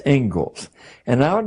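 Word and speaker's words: Inglis: the Engles lecture looks like English but it's pronounced Engles and I would like to read you the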